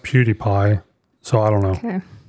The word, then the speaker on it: PewDiePie: what I was thinking at all but it's pronounced PewDiePie so I don't know okay I just I